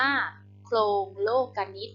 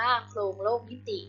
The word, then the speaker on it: โคลงโลกนิติ: นำ เรื่อง นะ คะ โครง โลกนิติ อ่าน ว่า โปร่ง โลกนิติ นะ คะ ไม่ ได้ อ่าน ว่า โคลง โลก นิติ นะ หลาย คน อาจ จะ อ่าน ผิด นะ คะ เป็น วรรณคดี